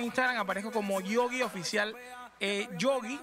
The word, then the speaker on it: Gioggi: Yogi se pronuncia como el oso Yogi, pero se escribe G de gato y GGIO, oficial con WF, en Instagram y también en Facebook.